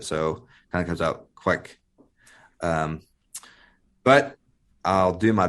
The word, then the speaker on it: kveik: but looking at literature it's pronounced like Quake but with a K in front of it so kind of comes out quick um but I'll do